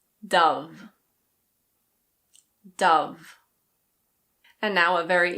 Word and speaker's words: Dove: This one is pronounced just like the bird. I know it looks like "dohv", but it's Dove.